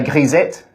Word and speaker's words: grisette: wide in New Zealand it's a gisette a gisette is actually a French term um and or git